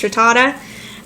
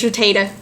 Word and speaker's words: Rattata: ran into Rattata, which I now know is pronounced Rattata. I used to think it was Rattata.